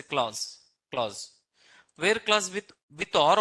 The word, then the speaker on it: clause: Where clause, this we need to pronounce clause. It's not like a class, it's a clause.